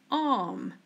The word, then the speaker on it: arm: Repeat, arm. Arm. As you can see, the R is silent. We don't mention it.